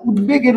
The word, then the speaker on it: উদ্বেগ: যেমন উদ্বেগের উচ্চারণ হচ্ছে কি যে উদ বেগ। কারণ এখানে বফলার উচ্চারণ হবে।